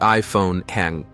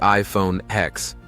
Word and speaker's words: iPhone X: 2017, the iPhone 10. 10 years after the original, Apple releases the iPhone X, pronounced 10.